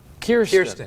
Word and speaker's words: Kirsten: we decided her name is Kirsten.